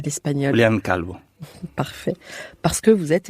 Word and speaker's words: Julián Calvo: Oui, Comment vous le prononcez à l'espagnol? Julián Calvo.